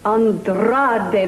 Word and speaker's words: Andrade: Andrade, that's right.